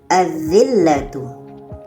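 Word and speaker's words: الذلة: Jadi kalau kita baca azzillatu. Azzillatu lamnya tidak kita baca.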